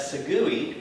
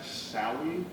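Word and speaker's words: Sagui: I think that's Rhett Sawi. No, it's not. It is. Can you spell that? It's S as in Sam, A-G-U-I, like Maui. Yeah. And Sawi. That sounds like Segui.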